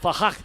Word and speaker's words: F5R: That's F5R, but it's pronounced Fahak, and also V Chopper.